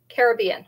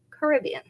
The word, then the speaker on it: Caribbean: I did actually look up how to pronounce that, and that is how the proper pronunciation is. They know you're a tourist if you say Caribbean. Isn't that interesting? I would have thought it was the other way.